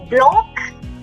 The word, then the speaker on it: blanc: That say is always pronounced.